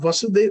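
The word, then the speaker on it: Vāsudeva: we make little mistakes the son of vasudev is vasudev it's ah that is that is how it is it is pronounced and like for example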